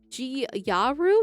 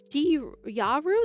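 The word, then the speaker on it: gyaru: to be is um G Yaru. That's how you're supposed to pronounce that G Yaru. That's how you pronounce it.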